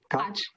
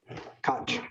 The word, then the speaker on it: Koch: How do you pronounce it? Koch. Koch.